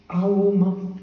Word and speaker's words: Om: Om has got three syllables. Aum. It has got three syllables. A starts from the throat. U passage through the vocal passage it goes through. And Im concludes it with the lip.